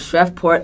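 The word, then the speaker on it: Shreveport: Crime Story is about 41-year-old Karen Johnson of shreport Louisiana I think it's pronounced shreport okay sorry shreport Louisiana M okay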